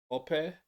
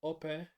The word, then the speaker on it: Ope: Ope but we might say in England Opie or something, but that's incorrect apparently. He'll explain why um he says it in that way. But it's Ope rather than Opie.